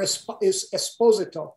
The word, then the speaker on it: Esposito: As a fan myself of all of us who make the show, fans of Giancarlo Esposito and the wonderful, or Esposito, I believe is the correct pronunciation.